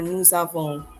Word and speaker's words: nous avons: Notice we pronounce the S here because of the following word which begins with a vowel.